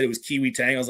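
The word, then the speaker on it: Kai-Wei Teng: I mispronounced that 100 times with the Kai. No, it is Kaiway.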